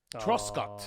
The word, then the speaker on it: Truscott: And fitness class, nobody's is on the train harder than us for Missy Truscott. Oh, love Missy. Now pronounce the last right name Missy now.